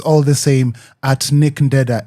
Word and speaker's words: Nick Ndeda: Nickneda N I C K N D E D A not Denda, please. It's D. If it makes it easy, say it like Da.